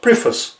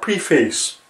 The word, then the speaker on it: preface: And it is pronounced preface, not preface. It bothers the hell out of me when I hear it.